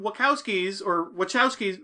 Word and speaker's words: Wachowski: But we get idiots like the freaking Wachowskis. How do you say it, Dave? Wachowskis. We're just gonna get Wachowski like Chewbacca.